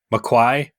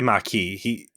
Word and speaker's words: Maquis: How does Picard say Marquis? McQuai? He doesn't say Maquis. He's got a real interesting pronunciation of it. Yeah, I think he has a little bit more of an R in there.